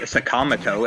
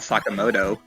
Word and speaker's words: Sakamoto: They call uh Ryuji Sakamato and not Sakamoto.